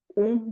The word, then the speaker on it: Om: So make sure that you pronounce the Om properly, slowly and steadily. Allow the sound to resonate from the abdomen. Means with the first sound, Om mix with the U, M.